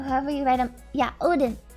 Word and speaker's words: Odin: you write them yeah odin i think it's pronounced udin in actual scandinavia when fears are claimed